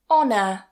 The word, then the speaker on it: honour: French or Old French, we tend not to pronounce that H as a h sound. We just remove it completely. For example, honest, honest. Hour, hour. Honour, honour.